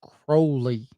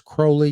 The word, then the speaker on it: Crowley: was last name is Crowley because it rhymes with holy I had to try